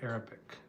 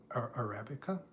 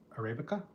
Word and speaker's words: Arabica: Maria says, "I love Portuguese coffee, especially Arabic." Arabica. Arabica. Sorry, I mispronounced that.